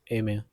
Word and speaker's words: aimer: Pronunciation is aimer.